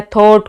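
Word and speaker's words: thought: जो जीएच है, जीएच कहाँ पर साइलेंट रहेगा, अगर आपके पास आ जाता है थॉट, कोट, बोट, थ्रो, दो,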